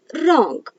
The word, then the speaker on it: wrong: is silent for example wrong so here when w and r comes together we heard a sound of only r that is but we